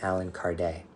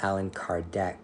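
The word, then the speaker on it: Allan Kardec: Brazil and so the Alan Card Alan Card his name is Alan Card it's French but people say Alan card because they don't know how to pronounce his name properly that those books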